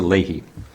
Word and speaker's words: Leahy: And then I wanted to mention, because this was kind of a cool thing, Lisa Leahy, is that how you pronounce? Yes, Lisa Leahy, received the Wisconsin Nursing Home Social Workers Association Award for Social Worker of the Year.